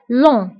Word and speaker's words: long: جي ما كنتبقاش في آخر الكلمة كنقولو long.